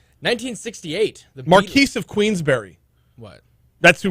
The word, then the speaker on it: Marquess: like it's spelled Marquez. Marquess, but it's the Marquis of Queensberry.